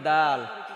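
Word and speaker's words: دال: কি আমি কি ক এর পরে কি কয় দাল খ খড়ে দাল দাল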